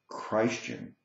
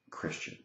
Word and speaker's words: Christian: to explain to you why I pronounce the word Christ him rather than Christian and I pronounce the word Christ the entity rather than Christianity if you've watched my videos you maybe have noticed that and I'm hoping that other people will adopt this way of pronouncing the word the reason I do it is because it emphasizes Christ I mean after all